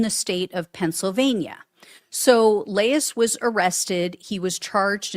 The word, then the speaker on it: Laiss: Matthew Laiss, I believe is how you pronounce his last name. It's Laiss.